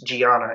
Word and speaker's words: Gianna: I believe it's Gianna, is how it's pronounced.